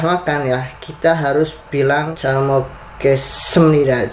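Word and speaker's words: 잘 먹었습니다: Jadi kita sudah makan nih, tadi sudah makan, dan ketika kita sudah makan ya, kita harus bilang calmokesemnida. Jadi S-nya itu agak tebal teman-teman, itu menandakan itu kalau kita sudah makan dengan baik dan benar teman-teman.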